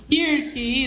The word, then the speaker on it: Kirk: É Kirk mesmo a pronúncia? Kirk, isso.